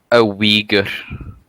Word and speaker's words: Uyghur: A Uyghur. Oh, okay. Is that the correct pronunciation?